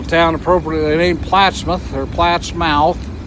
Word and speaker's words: Plattsmouth: A little town appropriately named Plattsmouth, or Platt's Mouth. It's spelled Platt's Mouth and defines what it is actually, but it's called Plattsmouth, Nebraska. So we're headed for Lincoln today.